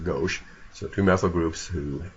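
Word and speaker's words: gauche: that's referred to as go g Au c h e now it's actually a French word meaning left like left versus right not sure why that's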